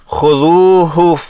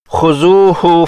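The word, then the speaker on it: خذوه: Link description میں ہے۔ اس آیت کو ایسے پڑھنے سے آخری ہا کا تلفظ سنائی نہیں دیتا، خذوہ فغلوا، جبکہ اس ہا کو واضح کرنے کے لیے اندر کی ہوا کو باہر نکالتے ہوئے اس طرح پڑھیں گے، خذوہ فغلوا۔ اسی طرح واستغفروہ کی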